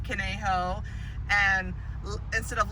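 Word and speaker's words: Conejo: pronounce the streets here the new joe kinijo instead of kaneho and instead of las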